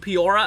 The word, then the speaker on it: Peoria: This does include Peoria as well. I think that's how you say it, Peoria. Not Peoria, it's Peoria, I think.